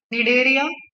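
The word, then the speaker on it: Cnidaria: क्या मिल गया हमें, सिलेंट्रेटा मिला एंड टीनोफोरा में, निडेरिया एंड टीनोफोरा, दोनों में ही सी साइलेंट होता है प्रोनाउंसिएशन के टाइम। ओके, निडेरिया, टीनोफोरा, सी का कोई प्रोनाउंसिएशन नहीं हो रहा है वहां।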